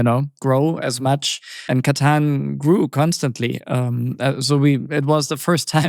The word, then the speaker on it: Catan: needed to be called katanu and in French they added an e so that the pronunciation is katan. Um so otherwise it would have been kon.